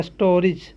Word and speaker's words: stories: उसी प्रकार यहाँ देखेंगे STORIES, यहाँ पर IE के बाद एस आया है, IE के बाद एस आया है, इसलिए यहाँ पर इसका उच्चारण क्या पढ़ेंगे, ज, यानी इसको क्या पढ़ेंगे, स्टोरीज।